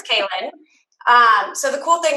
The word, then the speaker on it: Klyn: is really weird it's k-l-y-n pronounced kaelyn it looks like clint clean klein killin kylon whatever it's kaelin um so the cool